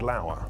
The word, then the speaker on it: Lauer: It was a bad week for Matt Lauer, rhymes with sad flower.